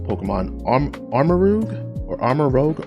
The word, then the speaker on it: Armarouge: arm armor rogue or armor rogue armor rouge i'm pretty sure it's pronounced armor rouge no i'm sorry armor rogue i'm just gonna say